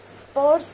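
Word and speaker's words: spruce: ये है हमारा पेड़, स्पर्स पेड़। इसकी प्रोनाउंसिएशन कैसी होगी यार, स्प्रूस पेड़, ट्री।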